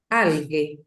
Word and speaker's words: alghe: La GHE en italiano, esta que está acá, suena como G, ¿sí? Entonces, ok. ¿cómo yo pronunciaría esta palabra? Alghe, Alghe, alghe.